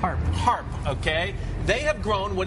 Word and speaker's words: Harp: how do you say your last name are harp okay they have grown what is now officially